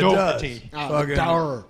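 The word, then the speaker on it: Daugherty: It's got a little bit of the Irish in it, so yeah, it's Doherty. Sometimes Doherty.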